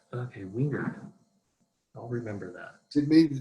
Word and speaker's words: Wingeard: And how would you pronounce it again? Wingeard. Wingeard. Okay, Wingeard.